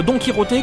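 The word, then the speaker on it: Don Quijote: me trouve devant la statue de donkyot ou plutôt donkyoté comme le prononceraient les Espagnols parce qu'en fait il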